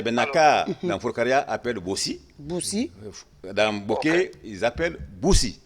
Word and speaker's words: boussi: Bossi s'écrit comment, monsieur Silla? C'est B-O-2-S-I. Oui. Ou bien B-O-U-2-S-I. Ok, bossi ou bossou? Bossou. Boussi.